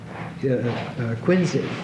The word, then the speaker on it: Quincy: and he wrote to quinsey It's pronounced quinsey Adams he wrote to